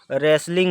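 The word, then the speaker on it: wrestling: When the thief meet Anil, he was watching A रेसलिंग match, रेसलिंग इसको पढ़ा जाएगा, रेसलिंग, W silent है, रेसलिंग match.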